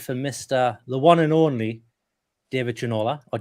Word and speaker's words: Ginola: and I went for the one and only David Ginola, or David Ginola, if you want to shout.